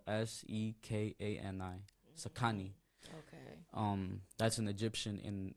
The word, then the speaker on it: Xikani: The original word is spelled Sekani. Xikani.